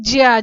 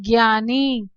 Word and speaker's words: ज्ञ: अब उसके बाद देखते हैं ज्य, जिसे हम ज्यादातर बच्चे और ज्यादातर लोग इसका उच्चारण कैसे करते हैं, ज्ञ के रूप में, ज्ञानी।